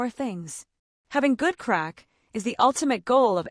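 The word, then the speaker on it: craic: It's an art form pronounced crack. This Irish word means fun, but it's so much more.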